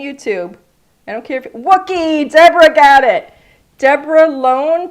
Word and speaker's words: Wookiee: The Wookiees. The Wookiees. Looky, looky rhymes with Wookie.